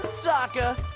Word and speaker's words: Sokka: That's right, I'm Sokka. It's pronounced with an aka. Young ladies, I rocked ya.